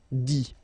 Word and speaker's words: dit: Okay, remember, you put this T, you don't pronounce it. Écrit, dit.